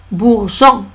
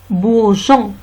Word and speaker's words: bourgeon: Un bourgeon. Un bourgeon. E ne se prononce pas.